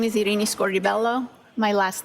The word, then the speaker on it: Scordi-Bello: name for the jury my name is irini scor Bello my last name is spelled s c o r d i hyphen